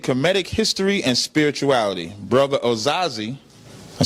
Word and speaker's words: Osaze: Osaze, okay.